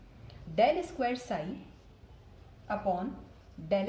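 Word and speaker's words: ∂: Okay, so we pronounce it like del. Del square psi upon del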